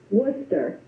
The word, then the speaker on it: Worcester: our country and I'm going to let is it will you pronounced your last name for me I'm going to butcher it Worcester Worcester see I knew I was going to